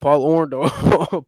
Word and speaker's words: Orndorff: Paul Orndorff.